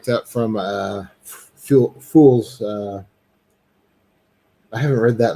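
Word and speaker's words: Phule: books and uh fuels fool's company it's always called fuel because it's spelled kind of like yeah ph yeah yeah um but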